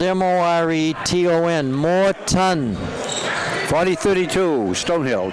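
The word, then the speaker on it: Moreton: 6-6 pulls down the rebound his last name is spelled m-o-r-e-t-o-n more ton 40-32 stone hill 203 left in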